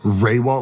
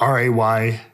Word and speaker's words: Rehwoldt: Raywalt, like RAY-WALL-T.